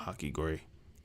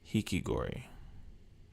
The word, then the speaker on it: hikikomori: Oh, not Hakigori. Hikigori. How do you say it?